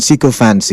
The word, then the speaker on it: sycophancy: That's the correct pronunciation, sycophancy.